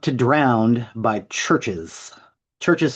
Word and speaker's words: Chvrches: The next song is How Not to Drown by Churches. Churches spelled Chvrches. It is pronounced churches.